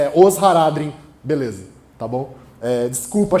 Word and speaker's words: Haradrim: Toda vez que alguém pronuncia uma palavra élfica como oxítona, morre um elfo da floresta, gente. Não façam isso, tá? Por favor. Ainur, Valar, Haradrim.